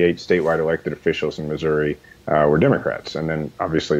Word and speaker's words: Missouri: that Missouri has not how do you say Missouri you say Missouri I I was always trained to say Missouri now what's the line where where is the geographic difference between Missouri and Missouri sometimes there's a geographic